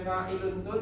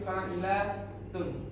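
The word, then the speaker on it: فاعلاتن: Alifnya ini adalah perubahan dari nun agar mudah untuk membacanya, sehingga dia tidak dibaca fa'ilun tun tapi fa'ilatun.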